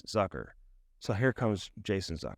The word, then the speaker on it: Zucker: man yeah let's go some people call him zuker but I've heard interviews with him he says it's sucker so like I didn't really ask him for an exact pronunciation but all you that have been saying zuker are wrong it's Zucker so here comes Jason